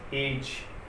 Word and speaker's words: edge: वो कह रहा है कि अगर G से पहले यदि D आया हो तो D साइलेंट रहता है। D साइलेंट रहता है। जैसे एग्जांपल हम देख सकते हैं, जैसे एज, EDGE, G से पहले क्या आ गया D, तो D का जो साउंड है वो नहीं आएगा, तो एज।